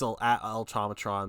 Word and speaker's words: El Tomatron: So, the Instagram is eel dot or it's elometron, but it's like eel.